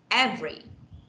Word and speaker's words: every: all right next everyone how do you say it every it's like the song ebony and ivory is it like that ebony yeah every no okay so we should say like this every every okay every yeah okay so that's silent syllables okay wow this is